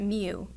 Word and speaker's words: mu: means okay now Moo this symbol right here it looks like a curly M and we pronounce that Moo that is the population